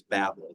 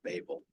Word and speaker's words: Babel: about the Tower of Babel or Babel as the professors pronounce it when you get in and actually research it and you listen to people who are talking about the Tower of Babel it is Babel not Babel but as a kid